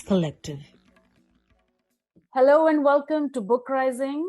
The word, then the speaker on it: BookRising: Hello and welcome to BookRising, which rhymes with uprising.